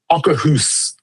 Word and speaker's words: Akershus: day because we had breakfast that day at Akershus. That's how it's pronounced. I think I was paying big time attention when they told us the name because we ate there for a couple mornings later. Akershus.